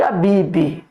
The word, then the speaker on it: Abib: Lembrando, irmãos, nós quando vamos falar da peça 15 de Abibe, devemos sempre lembrar que a pronúncia é Abib. Muitas, poucas são as bíblias hoje que traz a expressão correta, a Bibi.